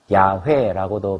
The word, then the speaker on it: 여호와: 우리가 섬기는 신의 이름이 여호와라는 것입니다. 야훼라고도 발음하죠.